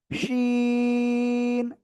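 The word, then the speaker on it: شين: জিহ্বার এই যে মধ্যখান তার বরাবর উপরে তালুর সাথে লাগিয়ে শা শা শব্দ করে এই অক্ষরটা 3 আলিফটা নিয়ে উচ্চারণ করতে হবে। শিন শিন।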